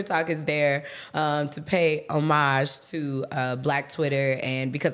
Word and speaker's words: homage: Well, first of all, Twitter Talk is the segment where we pay homage. Homage. You don't pronounce the H in French.